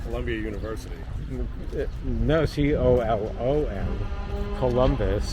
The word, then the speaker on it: Columbus: Columbus. Columbus. Like the like the Colobus monkey.